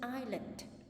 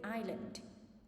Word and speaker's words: island: Swiss the Swiss Family Robinson swims to an island so for this word just focus that we don't pronounce in the word Island we just say Island but not Iceland right